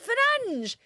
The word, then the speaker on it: Fernandes: No, it is Fernandes. That's how you pronounce it in Portuguese.